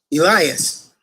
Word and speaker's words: Elias: elias say amen but the greek pronunciation of the word elijah and the greek is elias in greek understand that